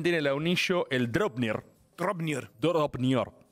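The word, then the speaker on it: Draupnir: Dropnir. Hay que pronunciarlo así, yo estoy pronunciando en antiguo nórdico.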